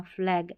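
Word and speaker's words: flag: AG का, एग करके, एग करके नहीं पढ़ना, फ्लैग, एग, एग।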